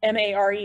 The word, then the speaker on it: mare: actuality their old lava flows and the term m-a-r-e or mare is a single term for maria